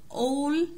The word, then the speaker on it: all: from all around the world. from all around the world يعني من جميع أنحاء العالم. كنا قلنا قبل كده الـ A لما بيجي بعدها دبل L بننطقها O، فهنا دي اسمها إيه؟